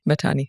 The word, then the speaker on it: Mahtani: Mahtani, actually. Mahtani. Mahtani is the more Indian Sindhi pronunciation.